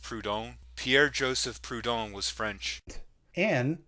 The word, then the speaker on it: Proudhon: The term was coined to describe oneself politically by Pierre-Joseph Proudhon. This is somewhat of a minor nitpick, but it's actually pronounced Proudhon.